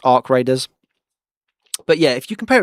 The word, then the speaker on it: ARC Raiders: lot of criticism for that, because I was pronouncing it ARC Raiders. I didn't know it's pronounced Ark Raiders.